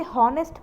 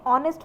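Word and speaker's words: honest: फिक्र कुछ लोग इसे होस्ट पड़ते हैं कुछ लोग इसे ऑनेस्ट पड़ते हैं what is the right pronunciation the right pronunciation सही उच्चारण है इसका व है और नेक्स्ट पॉइंट आपके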